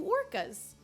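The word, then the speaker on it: Orcus: And it's not spelled like orcas the whale, but I like to say it like it is because it makes it sound like it's 90,482 orca whales. But it is spelled like O-R-C-U-S.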